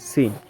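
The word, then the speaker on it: سين: এখন যে হরফের ইটা শিখবো সেটা হচ্ছে সিন। এই সিনটা হচ্ছে সিনটা হচ্ছে স আর হচ্ছে স এর মাঝামাঝি। সিন। ঠিক আছে? সিন। প্রেসার কুকারে যে সিটি দেয় না ওই সিটির মত একটা উচ্চারণ হবে। সিন।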